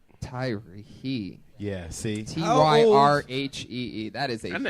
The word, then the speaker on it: Tyrhee: There's a silent H in there. Daddy issues. I'm working those out. I'm working There's a those out. silent what? A silent H in it. The H, you don't even pronounce the Right. H.